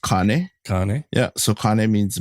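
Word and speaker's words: kāne: so the first one it would actually be pronounced Kane Kane yeah so Kane means male or any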